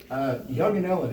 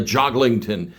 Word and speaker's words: Jongeneelen: So, how is that last name pronounced, Peter? Young and Ellen. Okay. So, Young and Ellen. Now, some folks I know I've known you for years. They they call you a Jaggletin and that is a severe mispronunciation.